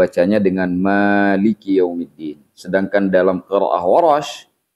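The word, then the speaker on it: مالك: Jadi nanti siapapun yang membaca Al-Fatihah, karena kita menggunakan qiraah hafaz, maka tetap dibacanya dengan huruf mim yang dipanjangkan dengan menggunakan mad. Jadi kita baca maliki yaumiddin. Nah, sekarang kita berbicara tentang yaumiddin.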